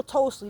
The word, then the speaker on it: Tolstoy: It's Leo Tolstoy.